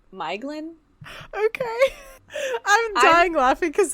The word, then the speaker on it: Maeglin: thing is that, like, it says in the back that the AE put together like that, it's, like, are combinations of the individual vowels, but AE may be pronounced in the same way as AI, and OE as an English toy.